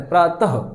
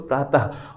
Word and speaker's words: प्रातः: भी नोट कर लीजिएगा, विसर्ग का जो उच्चारण है दोस्तों वो हा के समान किया जाता है, प्रातः, हा। जब वो आप बोलेंगे, प्रोनाउंसिएट करेंगे, उच्चारित करेंगे, तो आपको ऐसा लगेगा उसमें हा निकल रहा है, ठीक है, हा, तो प्रातः।